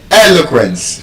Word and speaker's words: eloquence: in dal gence So you can see el o quence. First syllable is an exception.